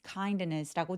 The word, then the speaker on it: kindness: kindness 할 때 kindness kindness라고 D 소리를 살짝 내셔도 괜찮고요. 요렇게 자음이 뭉쳐 있을 때 보통 T나 D들이 없어지는데 빠르게 발음하면 kindness kindness 하면서 D가 사라지게 됩니다.